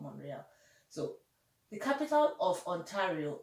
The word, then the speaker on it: Montreal: Moorea Moorea so people the T is silent in Montreal it's called monreale so the capital of